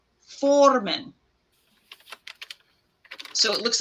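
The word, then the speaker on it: formen: this is the tingwar for North which is pronounced Foreman so it looks like a b with an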